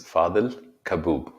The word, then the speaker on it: Fadhel Kaboub: own name yes absolutely my name is fadel kaboob thank you okay i